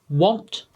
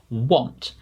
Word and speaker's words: want: have picked out are want coffee hot and drop i think the difficult one there was probably want because it has an a rather than an o so it's easy to miss hopefully you got them